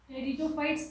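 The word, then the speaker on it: Pteridophytes: थैलोफाइट्स और algae, ब्रायोफाइट्स, टेरिडोफाइट्स, P silent होता है यहाँ पे, टेरिडोफाइट्स एंड एंजियोस्पर्म्स।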